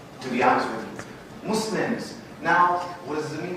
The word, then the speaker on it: Muslim: Muslims. Muslims. The correct pronunciation is Muslim. The word Muslim has a very negative connotation in the Arabic language. It actually means someone who oppresses or harms or does evil, to be honest with you.